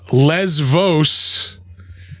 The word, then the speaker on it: Lesvos: Lighthouse Lesvos in 2016. That's a V.